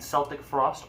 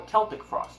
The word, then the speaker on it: Celtic Frost: of hell hammer and Celtic Frost or Celtic Frost depend on how you want to pronounce it hard C or soft see all it to you